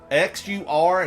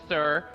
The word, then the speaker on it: Xur: No one pronounces Xur's name with an S and says Sir. It's Xur with a Z, zebra, like a zebra.